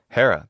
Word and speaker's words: Hera: the dioni but Hera Hera that's how her name is pronounced in classical adct pronunciation har in